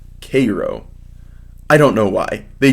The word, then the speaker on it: Cairo: chuckle at this line I was headed for Cairo which is pronounced Cairo I don't know why